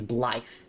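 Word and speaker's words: Blaidd: Blade did mention you. Or sorry, not Blade. His his name is Ble. That's how you pronounce it.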